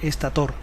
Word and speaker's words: estator: el estator la raíz defiende aparentemente con poco éxito la pronunciación estator el rotor gira dentro